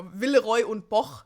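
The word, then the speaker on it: Villeroy & Boch: I actually don't know how to pronounce that in a non-German way, because that's how I've always said it. Villeroy and Boch. No, Villeroy und Boch, so.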